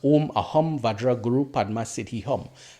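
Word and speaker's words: Om Ah Hum Vajra Guru Padma Siddhi Hum: So the Guru Vajra mantra is pronounced as Om Aham Vajra Guru Padma Siddhi Hum. This is the Romanized version.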